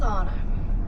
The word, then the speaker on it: Anna: It's Anna. Spelled Anna, but rhymes with Lana.